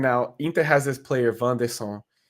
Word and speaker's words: Wanderson: So basically what happened now, Inter has this player, Van de Son, which is spelled Wanderson, like Anderson with a W.